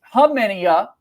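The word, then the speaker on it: Khamenia: Uh, Nick Hmenia, learned that pronunciation from him going into this upcoming season. The K silent forum.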